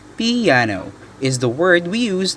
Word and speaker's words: piano: music dynamic markings number one piano which is pronounced piano is the word we use to describe quiet